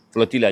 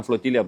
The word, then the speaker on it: flotilla: Saya menyebut dengan bahasa asal kerana dalam pronounce flotilla ni, orang Spain yang memulakan bantuan kemanusiaan ni menyebutnya flotilia. Dia la tapi dia bunyi lia. Flotilla. Jadi flotilla dan flotilia betul.